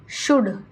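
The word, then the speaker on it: should: चलेंगे हम देखिए वन शुड देखिए यह शुड लिखा हुआ है यहां पर क्या होता है एल साइलेंट होता है तो इसलिए शुड बोलते है शड लिखा होता है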